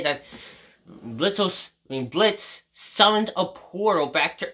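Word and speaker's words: Blitzø: And he basically speaks with Blitzo. Actually, Blitz, the O is silent.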